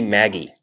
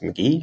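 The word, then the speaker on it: Magie: Monopoly was created by a woman in 1903, Lizzie Maggie, or maybe it's supposed to be pronounced McGee. I don't really know. It's Migie.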